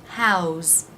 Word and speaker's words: how's: For example, how is, how's. The S is pronounced as a Z sound, how's.